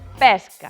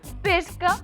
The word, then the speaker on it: pesca: Só hai unha excepción. Pesca, que podes pronuncialo pesca ou pesca.